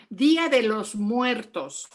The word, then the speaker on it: Día de los Muertos: Día de los Muertos.